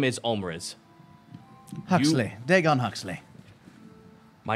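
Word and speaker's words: Ulmriz: I just write things out phonetically. Omriz is U-L-M-R-I-Z.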